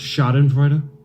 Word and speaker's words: Schadenfreude: I believe it's pronounced Schadenfreude. What did I say? Schadenfreude? Yeah. Peter Schadenfreude? Yeah. Schadenfreude. Schadenfreude. I believe it's a German word.